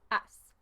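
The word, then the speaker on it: has: that's H a s remember in Spanish you don't really say the H maybe if you have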